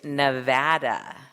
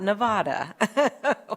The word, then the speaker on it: Nevada: thank you for being here and traveling to Nevada not Nevada we'll get you saying it right no worries